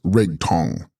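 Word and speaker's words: rig-stong: Rig Stong, pronounced Rig Tong, consciousness and voidness.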